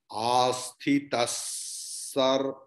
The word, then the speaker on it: आस्थितः: Asthitas sahi yuktatma. Here asthita, after that visarga is there, but afterward sakara is there. So visarga's pronunciation will be like sakara. You can cut it and put half sakara.